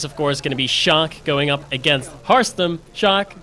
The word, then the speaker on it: Sjaak: proud to have that I'm in favor of pronouncing that as Dutch as possible yes shock shock there we go shaki that would go uh that would be a little bit weird now let's just stick to shock as we are setting